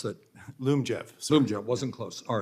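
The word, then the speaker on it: Lyumjev: that means uh I may be mispronouncing it Liam Jeff how do you pronounce that Loom Jeff Zoom jet wasn't close all right that's going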